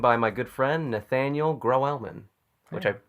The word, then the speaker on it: Grauwelman: I'm being joined by my good friend Nathaniel grow elman which I say you do you pronounce it right yeah we actually did not